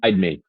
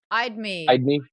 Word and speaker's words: Edme: Is that how you're going to pronounce that one? Eidmi. Eidme. Eidmi, Eidme. Hide me away from or Edme, everyone. again, but Eidmi is the way I call it, yeah.